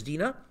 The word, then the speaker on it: Dinah: You would say Dinah. Her actual name is actually Dinah, so I'll be using that pronunciation. It's Dinah.